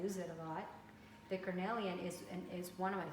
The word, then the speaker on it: cornelian: orange tourmaline is another one and the uh carmelia excuse me cornelia which i actually should pronounce it properly since i use it a lot the cornelian is is one of my favorites and i